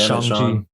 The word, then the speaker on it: Shang-Chi: I finally watched Shang-Chi, whatever you say his name is. Sean. It doesn't matter. It really doesn't matter. It's Shang-Chi.